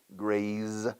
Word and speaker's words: graze: Graze. Grace con C se pronuncia grace. Como Grace Kelly. Grace. Oh, the grace of God, la gracia de Dios. The grace. Pero con Z es graze, Zaragoza.